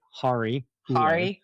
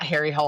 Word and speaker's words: Harry Hole: Hari. Hule. Hari. Yep. Harry. Hari. Hari Hule. Not Harry Hole.